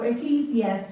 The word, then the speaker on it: Ecclesiastes: Ecclesiastes yep that's what I just wanted to kind of pronounce oops sorry let me go back a little bit so Ecclesiastes is the way you pronounce okay what is this book Ecclesiastes it's